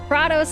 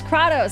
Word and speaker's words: Kratos: did got of war katos and Kratos oh yeah it was katos they pronounced it katos for Tales of Symphonia I don't know